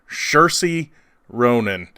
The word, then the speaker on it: Saoirse Ronan: up the SNL monologue to learn how to pronounce her name every time she's in a movie. Saoirse Ronan.